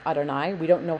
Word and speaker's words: Adonai: sound B familiar Adonai anytime you see two yids together like this um just pronounce it as Adonai we don't know how